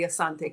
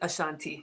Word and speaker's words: Asante: Naming ceremony, and we get to meet the king, the Asante king. You probably pronounce it Ashanti, but if it's on your bucket list, and yes, there's payment plans.